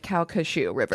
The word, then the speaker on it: Calcasieu: And she phonetically was like Calcasieu River. I was like, "I love it."